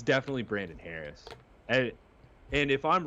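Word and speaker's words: Hoerres: Can you say his name right? Brandon Harris. Are you talking about Brandon? H O E R R E S. Brandon Harris. There's no A in that. Brandon Harris.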